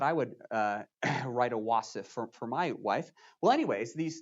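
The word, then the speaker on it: wasf: cycle three will have our first wasif let me say that again our first wasaf uh w-a-s-f that's how it's spelled and a wasaf is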